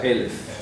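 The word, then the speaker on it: אלף: Se pronuncia Elef.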